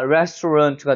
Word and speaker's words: restaurant: 여기가 센 거예요. 여긴 약한 거예요. 그러니까 restaurant가 되는 거죠. 런트가 아니라 runt. 아까 이런 느낌으로 restaurant. 힘을 빼면 돼요.